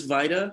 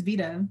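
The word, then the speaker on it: VIDA: essays you've written for and i believe the pronunciation is vita is it vi it's v-i-d-a yeah maybe i think it's veto it's veta okay a non-profit intersectional feminist literary organization and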